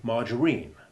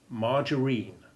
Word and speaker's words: margarine: say the sentence now then there's the oddity margarine the vegetable substitute for butter which has a soft g appropriate to the consistency of the substance and the following a has the iv sound margarine when g is followed